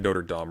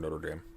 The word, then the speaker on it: Notre Dame: We need young, Dame pronounced in a way that rhymes with shame. I've heard it pronounced both ways. It could be Notre Dame or Notre Dame.